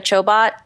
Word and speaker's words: Chobot: something her name is Jessica Chobot rhymes with robot yeah and and she's